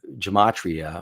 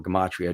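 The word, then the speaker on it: gematria: So you have um uh gamatria or gamatria depending on how you want to pronounce it.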